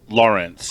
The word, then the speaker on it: Larrance: I pronounce it Lawrence. Just Lawrence. as though it's Lawrence.